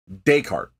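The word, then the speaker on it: Descartes: French philosopher Renee deart I've seen this kind of pronounced a lot of different ways but my understanding is it's deart that's mine as well okay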